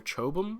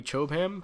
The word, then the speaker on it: Chobham: suit the Alex CA which I believe stands for chobum armor might be chop him however you want to pronounce that I think I'm gonna be saying chobam but uh yeah this